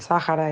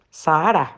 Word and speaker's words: Sáhara: Entonces aquí hay un cambio de entonación, en España lo pronuncian como una esdrújula y además, extrañamente, la H, que en este contexto normalmente es muda, aquí por alguna razón se pronuncia como una J suave.